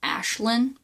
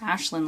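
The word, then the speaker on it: Aislynn: okay I found out the a i s l y n n was actually pronounced Ashland properly and he didn't care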